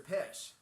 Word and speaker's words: Pish: My name's Mr. Pish. It rhymes with fish because I like to swim.